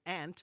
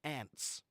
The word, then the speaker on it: aunt: you're talking about your aunt that's your mother's sister or your your uh father's sister right those are your ants okay but or Aunt either pronunciation is fine and uh if you